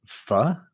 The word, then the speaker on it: pho: They serve pho, I think you pronounce it. Yeah. It's not spelled like that.